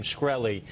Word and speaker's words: Shkreli: shy did answer was how to pronounce his name schelli he confirmed is the correct pronunciation throughout the hearing some